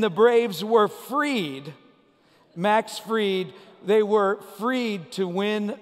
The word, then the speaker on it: Fried: your playoff hopes were fried but that's not how you say the name is it that's not how he pronounces his name he pitched six scoreless innings and the braves were freed max freed they were freed to